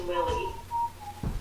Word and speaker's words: Lileigh: Her name was Lily. How fucking hard is that to spell with 4 letters? Lily, but it's like lay.